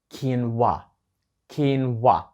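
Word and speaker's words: quinoa: вимовили ось це слово так от воно вимовляється як keen WoT і означає насіння кіно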